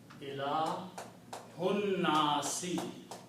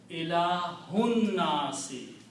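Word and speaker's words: إِلَٰهِ ٱلنَّاسِ: So now the word becomes Ilahunnasi. Do not pronounce this alif. Ilahunnasi.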